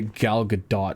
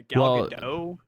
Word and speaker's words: Gal Gadot: Yeah, Gal Gadot. That's not how you're supposed to pronounce it, but That's definitely how you're supposed to pronounce it.